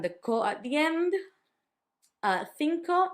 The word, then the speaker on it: cinco: Cinco, number 5, had the thi and it also had the co.